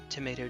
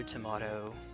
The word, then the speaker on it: tomato: a regional difference like either either are there tomato tomato what's a potato potato what's